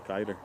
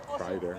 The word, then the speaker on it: Kreider: Hyde opts to play closely to Kiter. Or Kreider, I should say. I forgot there's an R there.